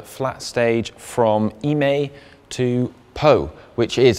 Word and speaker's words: Pau: Stage 11 is a 204 kilometre flat stage from Eymet to Pau, which is, I am reliably informed, pronounced Pau as in the Teletubby and not Pau as in the 80s group.